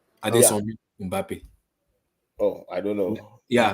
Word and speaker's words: Mbappé: How can you have two consonants in your name, like two consonants back to back? How can I pronounce that? The way they pronounce Mbappé, quick, everybody, quick. Oh, quick, because they know the guy is good. They learned how to put M and B because normally they can't pronounce M and B in the same together.